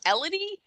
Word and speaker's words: Elodie: I'm not saying this to say that it's any better, but I am saying the name is pronounced Elodie. Like Melody without the M.